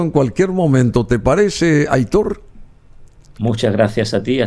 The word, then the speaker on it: Aitor: Aitor no tiene acento, pero se marca el acento en la O.